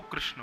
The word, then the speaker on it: कृष्ण: कई लोग कृष्ण शब्द का शुद्ध उच्चारण नहीं कर पाते, इसलिए प्रयास करो कृष्ण भगवान